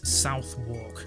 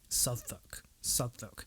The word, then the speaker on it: Southwark: that and no one better pronounce this as south walk because it's pronounced southwark southak i know it makes no bloody sense i